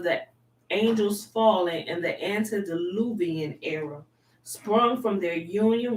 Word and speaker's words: antediluvian: the seed of the angels falling in the antediluvian era sprung from their union with the daughters